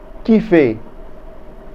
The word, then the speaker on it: kiffer: How do we spell it? D-A-N-S-E-R. Very good. Kiffer.